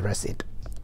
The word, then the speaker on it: receipt: me the received sorry no p there you have to see that's it kindly give me the recite okay yet another very